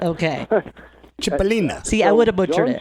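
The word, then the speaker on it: Cipollina: butcher it yeah well they call them sip Alina but anyway I'm Italian so I know how to say chipolina okay chipolina see Ellen a bunch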